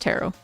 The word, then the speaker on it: tarot: And Furry, to pronounce tarot, it's just tarot.